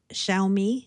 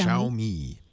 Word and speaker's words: Xiaomi: late last night with the Chinese phone maker xiaomi is that how you pronounce that x i AI sh xiaomi xiaomi so um this was really interesting because